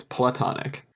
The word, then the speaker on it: platonic: Oh gran and yeah it is platonic as in Plato that is correct playtime extends like a tectonic thing yeah because it's a heart it's not a long a it's a short a it's platonic anyway what what do